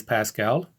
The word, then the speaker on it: pascal: is named after blaise pascal and i simply pronounce it a pascal anglicize it here for our purposes so pressure has the